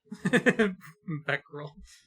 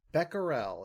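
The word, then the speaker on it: Becquerel: Beckerel. Beckerel is how that is pronounced.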